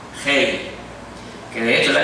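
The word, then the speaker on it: ה: Se escribe en español H-E-Y. Hei.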